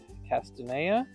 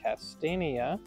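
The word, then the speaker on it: Castanea: In the search field, I'm going to type Castana or as some people pronounce it Castania, which is the genus for chestnuts and chinkapins.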